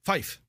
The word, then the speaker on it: five: score in this case it's five which sounds as Fife the pilot responds saying